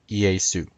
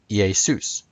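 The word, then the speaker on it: Ἰησοῦς: came together forming Yeshua's Greek root EA suit when used as a subject EA soos when used as an object EA soon in Greek characters yay soos now notice this is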